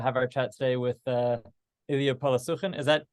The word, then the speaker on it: Illia Polosukhin: We're excited to have our chat today with Illia Polosukhin. Is that pronounced correctly, Illia?